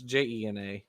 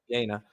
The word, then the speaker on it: Jena: I'm sure I'm mispronouncing it. It's Jena. Jena.